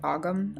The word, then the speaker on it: Ogham: or the Elder futhark the OM can also sometimes be pronounced the agum I believe but it's based in